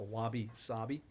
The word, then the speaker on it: wabi-sabi: Japanese art form called wabi sabi. It's a wab bi sabi. And I did some research to make sure that I'm pronouncing it correctly. Um the i's are pronounced as e. So wabi sabi.